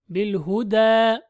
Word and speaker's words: بالهدى: That is extended with the ألف مقصورة and ياء is silent. بالهدى.